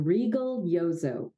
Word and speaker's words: Rigoglioso: have the wonderful Rego gliozo did I say your name correctly almost perfectly it's it's regal like a queen Regal yozo that would be the absolute Italian pronunciation of it but you're good thank